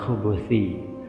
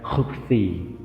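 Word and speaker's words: الخُبُث: Al-Khattabi mengatakan bahwa lebih tepat dibaca khubuthi, sedangkan kalau disebutkan bahwa kebanyakan ulama hadis membacanya khubthi, ini tidaklah tepat. Intinya, dua cara baca dengan khubuthi dan khubthi sama-sama dibolehkan.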